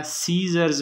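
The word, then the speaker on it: scissors: इस तरह सीजर्स में ये सी जो है ना, सी और एस जो है ना, ये साइलेंट है। सीजर्स, सीजर्स, तो ये पहला वाला सी और ये दूसरा वाला जो एस है, ये इसमें साइलेंट है, मैंने अंडरलाइन किए हुए हैं, ठीक है ना।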